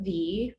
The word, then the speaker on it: Vy: my name is dr v pronounced like the letter v i am a naturopathic